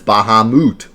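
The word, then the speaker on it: Bahamut: argument and we would have known that it's baha moot reijin fujin it's been fun that's kind of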